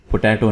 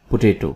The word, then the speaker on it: potato: इसका सही उच्चारण 'आलू' है। ठीक है? यह 'poteto' नहीं, 'potato' है।